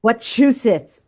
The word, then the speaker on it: Wachusett: Wachusett.